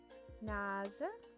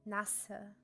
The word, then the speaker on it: Nase: You say the z softly. Because if you said that with the SZ sound, it would be Nasse. And that Nasse, if you